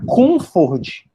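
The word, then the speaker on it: Comte: Já Comfort se escreve como se fala Comfort, C-O-N-F-O-R-D, Comfort, ele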